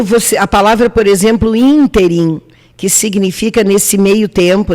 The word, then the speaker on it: ínterim: a palavra por exemplo ínterim que significa nesse meio tempo nesse espaço de tempo tem acento no primeiro i in team ela é uma proparoxítona real lembra do mapa da